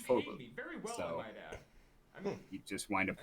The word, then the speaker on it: Vogel: It's just a wrong spelling of the word Vogel, Vogel, which is bird in German, but it's pronounced Vogel.